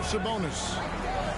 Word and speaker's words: Sabonis: Curry has it in the tournament I do pronounce that now sabonis he's got five who's McDaniel down low here's